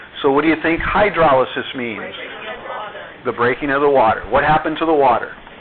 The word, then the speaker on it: hydrolysis: Hydrolysis. Good try. There you go. You put the emphasis on the wrong syllable. Hydrolysis.